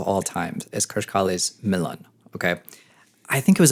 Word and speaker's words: Milan: My favorite track, top 3 tracks of all time, is Krish Kali's Milan. Okay. I think it was about a good 15 years before someone said, hey, it's actually pronounced Milan, not Milan, like I was saying the entire time.